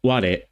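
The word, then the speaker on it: 我: Another note about this sentence, this character is used with the meaning of I in Japanese, pronounced ware, but it's more literary and old-fashioned and is no longer the main word for I.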